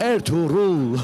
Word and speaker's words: Ertuğrul: असल तलफ़ुज़ है। Diriliş Ertuğrul. Oh my God, Can you that say is that? so. Repeat after me, Wait, come please. again. Diriliş Dirilish, Ertuğrul. Ertuğrul, Ertuğrul. Ertuğrul, Ertuğrul.